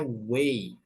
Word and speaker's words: way: Kemudian kalau kita mau bilang way, cara, nah itu bacanya way, bukan why.